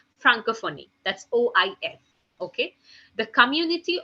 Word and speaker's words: Francophonie: Organisation Internationale de la Francophone, okay. This is a proper French, I can say that pronunciation, but it's Organisation Internationale de la Francophonie.